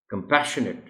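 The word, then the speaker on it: compassionate: और दूसरा important point इस वर्ड के प्रोनाउंसिएशन में ये है कि अगरचे लिखा हुआ तो NATE है आखिर में इस वर्ड के, मगर इसको पढ़ना नेट नहीं है बल्कि नेट है, कंपैशनेट।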